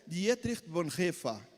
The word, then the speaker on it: Dietrich Bonhoeffer: Aí eu aprendi que em alemão a pronúncia é Dietrich Bonhoeffer.